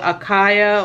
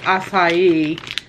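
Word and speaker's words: açaí: A lot of people call it acaya or acaya, but it's actually, I think, pronounced acai.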